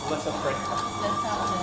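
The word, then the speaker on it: Lesaffre: Lasac. It's Lasac is the name, but it's spelled like Lasac.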